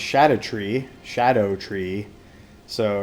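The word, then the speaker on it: Shadow of the Erdtree: items so I've learned that these things are pronounced shadow a tree Shadow tree so it's uh deriving from or playing with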